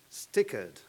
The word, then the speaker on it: STICERD: And I would start my very short introduction by thanking Professor Bandiera, STICERD, I finally learned how you pronounce it, and of course the Department of